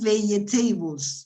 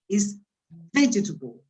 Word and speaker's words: vegetable: Yeah, it's not vegetables, as many students say. No, it's not vegetables. It's vegetable. This is like, I don't have any rubber here. It's like an accordion. Yeah, you say you must stress the first syllable. El acento, la voz se carga en la primera sílaba de la izquierda y al marcar la I, la sílaba del medio desaparece.